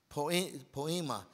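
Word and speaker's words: poiema: Poema. It's like the word, it wanted to say the word poem.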